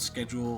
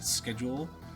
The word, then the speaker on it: schedule: Learn that Americans pronounce schedule like schedule. Here it's schedule. Yeah, it's s ke schedule because the the ch sound is not shed. schedule. Not schedule.